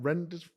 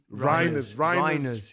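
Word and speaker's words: Reijnders: Is that how you pronounce his name? Reinders. Reiners, yeah.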